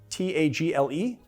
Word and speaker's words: Tagle: It's spelled Tagle, T-A-G-L-E, but he says it's pronounced Tagle.